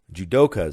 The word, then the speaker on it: judoka: some good and positive news here to Israeli judoka so that's how it's pronounced judo experts champions took home gold and